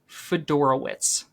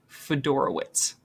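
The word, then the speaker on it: Fiedorowicz: We have CJ Fedorowitz.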